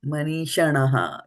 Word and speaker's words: मनीषिणः: from the I, and you pronounce this as a manīṣiṇaḥ. You know, manīṣiṇaḥ. Money. First is money.